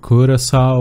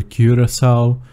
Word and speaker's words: Curaçao: well, there are different ways to say it like "kur-uh-sau" or "kyuor-ruh-sau". i will use the former as for the other questions, let's see so, curacao is a small island located right...